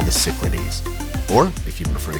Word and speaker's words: Cyclades: of the Greek island chain we call the Cyclades. Or, if you prefer the Greek pronunciation, the Cyclades.